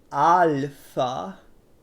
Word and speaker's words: alpha: It doesn't rhyme with Ralph in Greek. It's alpha. But that's pretty close.